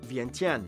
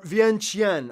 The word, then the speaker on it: Vientiane: Or Vientiane. I've heard Lao people pronounce it both ways. I don't know exactly which one is correct. I'm more inclined to say Vientiane, though, because I don't trust that T, but Yeah, hey.